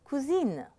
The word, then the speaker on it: cousine: The feminine is cousine, I-N-E.